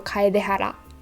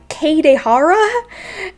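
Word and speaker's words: Kaedehara: of the r and l and it's like the start of a rolling r so kai de hara kai de um i heard his official english voice actor say kai ka katehara and um it really made me wince and i know they're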